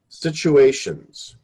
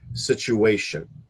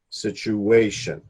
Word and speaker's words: situation: said yeah right here situations now generally the accepted way to pronounce it is the accent on the third syllable situation situation because you had said